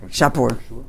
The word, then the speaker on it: Shapur: Anyway, Shipur Malka, that's how you pronounce it. Shapur. Shvar Malka, that's how I've always pronounced it, but if you hear right, it's Shapur. Shapur with a pay.